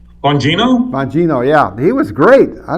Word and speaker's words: Bongino: And what really got me mad was the guy that they fired was Dan Barguni. How do you say? Bongino? Bongino, yeah.